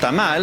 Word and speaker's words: tamal: be the most popular oh yes with a tamale actually pronounced thermal is the most loved we're at a restaurant